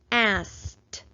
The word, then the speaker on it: asked: K is an unvoiced sound, so that means that this suffix ed is going to make the t sound. This is the word asked. How many syllables are in the word asked? Let's clap it out together. Asked. There is 1 syllable in this word.